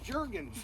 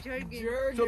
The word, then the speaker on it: Jergens: And then all of a sudden she sees that it was jergens. Jerkin. So they pronounce it jerkins.